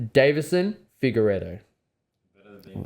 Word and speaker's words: Figueiredo: last loss, I don't even know if I want to try to pronounce his name. Go. It's so bad. It's Marab. It's Definitely. it's Davison Figueiredo.